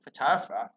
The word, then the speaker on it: photographer: nè phổ biến lắm, rất là phổ biến photographer. Còn này cái là về giờ này chúng sẽ đọc là tương tự như trên đây thôi, nó sẽ đọc là photography.